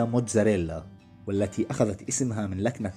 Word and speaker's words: mozzarella: جبنة موزاريلا أو كما تنطق باللغة الإيطالية موتزاريلا، والتي أخذت اسمها من